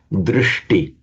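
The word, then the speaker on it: dṛṣṭi: As a matter of internal sandhi in Sanskrit, wherever you get a sh followed by a ta, they both automatically become retroflex. So drishti.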